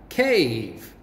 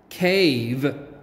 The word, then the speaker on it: cave: ago do you remember cave remember to practice saying the word with your teacher cave cave cave remember with a blank e we make the long a sound and the e is silent so it's like a